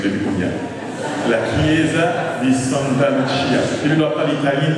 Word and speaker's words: Santa Lucia: La Chiesa di Santa Lucia.